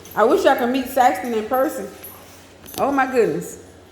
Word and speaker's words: Saxton: says sexy hey Saxon where's the lady that called me Saxon for real Saxon say my name's Saxton with a t that is but yeah